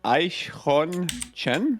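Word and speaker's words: Eichhörnchen: I learned how to pronounce it. It's Aichhon Chen.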